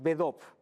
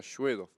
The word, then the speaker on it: Svedov: Svedov, a ver, es solo con S, es Bedov. claro, Svedov. Ujú. Eso es la pronunciación en español, porque después en ruso se pronuncia Shvedov.